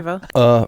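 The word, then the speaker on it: Erivo: Speaking of wicked, and she has a schwa. A Revo. Yeah, so that's a schwa. Arrivo.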